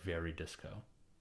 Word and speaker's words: Veridis Quo: it's Veridis Quo is Yeah, the yeah, yeah. actual name, but it's meant to be pronounced like very disco.